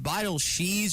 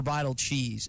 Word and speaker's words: Beidelschies: I should have done my homework and asked Oliver prior to this interview, but is it is it vital she or vital cheese? I think she's she Okay, so I said it right.